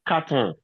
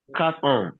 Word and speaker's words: ans: Pendant 4 ans. 4 ans. That S is silent.